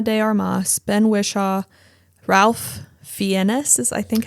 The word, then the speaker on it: Fiennes: Naomi Harris, Ana de Armas, Ben Whishaw, Ralph Fiennes is I think how you say his name, or Fiennes, or I've heard it pronounced different ways.